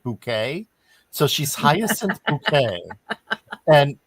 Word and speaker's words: Bucket: It's pronounced bucket, but she pronounces it bouquet.